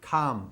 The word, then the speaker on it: come: Com is com, pero el verbo venir se pronuncia come.